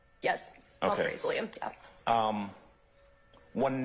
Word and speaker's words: alprazolam: Alprazolam. Am I pronouncing that right? Yes. Okay. Alprazolam, yeah.